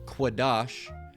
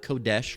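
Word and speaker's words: קֹדֶשׁ: It's Quadash. All right, not Kodesh, Quadash. If you're pronouncing it the correct way in the Paleo Hebrew.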